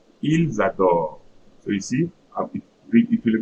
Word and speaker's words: ils adorent: Now look at for il L plural, it's written ENT, but see how I'm going to pronounce. Ils adorent. Ils adorent.